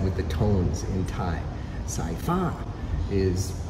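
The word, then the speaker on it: สายฟ้า: the tones in Thai, Sci-Fi is how it's supposed to be pronounced, because the second syllable, the fa part, has the falling tone, so it's up high.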